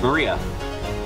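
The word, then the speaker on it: 真里亞: Of course, is pronounced Maria.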